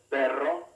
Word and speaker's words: perro: the word butter rosa the double r found only in the middle of a word has the same sound a single r in